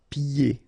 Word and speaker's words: pieds: And then when you get this combination here, it's ye. Pieds. Okay, so you don't hear the D.